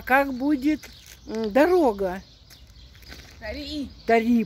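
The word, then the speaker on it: طريق: Тари, правильно, ударение на последний.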